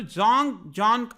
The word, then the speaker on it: Zhang Zhan: देखिएगा ये ZH को बेसिकली हम जे से प्रोनाउंस करते हैं चाइनीज में, तो जोंग जॉन आप कह सकते हो इसको, something like that. जोंग जॉन होगा समथिंग चाइनीज में प्रोनाउंसिएशन इनका।